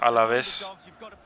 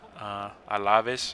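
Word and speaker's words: Alavés: another copa de espana versus alaves a lavis i'm pretty sure is the correct pronunciation because the accents and whatnot and so yeah we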